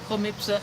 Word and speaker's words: Homipsa: I'm pronouncing it the correct way. Others pronounce it Jomipsa, but it is actually Jomipsa if you want correct Spanish pronunciation.